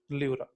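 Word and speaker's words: pleura: ल्यूरा। ठीक है, यहाँ पी साइलेंट है, याद रखना है।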